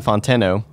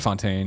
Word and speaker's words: Fonteno: the actor was Sean Fontenot Fontaine oh no I said Fontaine yeah okay I mispronounced him so he tweeted out